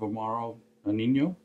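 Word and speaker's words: Amaro Nonino: nouns in half we need one ounce of omaro e nino dude that's how you say it there is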